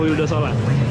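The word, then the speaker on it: Vildósola: Mexico namanya tavo fildosola kalau dibaca sih tavo willosola tapi kita bacanya tavo wildosola dari Mexico jadi tropy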